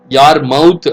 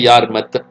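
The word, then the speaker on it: Yarmouth: யார் மவுத் அப்படின்னு ப்ரொனவுன்ஸ் பண்ண வேண்டாம், அது யார்மத்.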